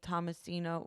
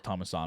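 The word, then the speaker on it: Tammisimo: like too about the Tommy thomasino right that's how you say his name I thought it was thomaso but thomaso who cares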